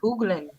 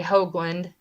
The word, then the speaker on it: Hoagland: Well, my last name is Hoagland, Hoagland. It's originally from Holland. And if you look it up, the correct pronunciation for it would be Hoogland. But, I say Hoagland, like Hoagie Hoagland, but Hey, the Steve.